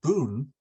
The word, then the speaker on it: bun: there with the high one but the word Boon Boon is it's pronounced in Japanese means sentence or sentences so